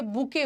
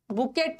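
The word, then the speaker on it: bouquet: Flowers के लिए बुके होता है। बुके के स्पेलिंग में टी को प्रोनाउंस मत करना, टी साइलेंट है। बुकेट नहीं बोलना है, बुके।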